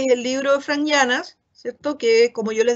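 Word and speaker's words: Yiannas: Una lectura que es el libro de Frank Llanas, ¿cierto? Que, como yo les decía, se puede descargar gratuitamente, ¿sí? Llanas se escribe Y-A-I-A-N-A-S, Frank Llanas, ¿sí?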